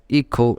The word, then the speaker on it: hijo: So son in Spanish written as hijo, but it can be pronounced as IKHO, hijo.